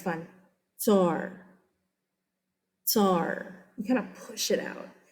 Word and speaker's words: tsar: We often you'll see this spelled over here TSAR because that's how it's said. Tsar, TSAR or CZAR.